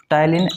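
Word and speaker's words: ptyalin: तो टी के साथ उच्चारण है। टायलिन amylase enzyme.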